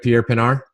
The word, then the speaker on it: Pierre Pinaar: I'm so excited to sit down here virtually with Pierre Pinaar. I just messed it up, didn't I? Did I say it right? Pierre Pinaar. Yeah, perfect.